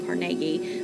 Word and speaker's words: Carnegie: Andrew Carnegie will become, sometimes pronounced Andrew Carnegie, will become one of these large business owners